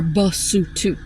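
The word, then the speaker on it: Basotho: It is pronounced leutu. The people are basutu.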